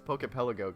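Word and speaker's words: Poké Pelago: it poke pelago but it's poke pelago cuz it's like AR archipelago archipelago whatever geography anyway here's this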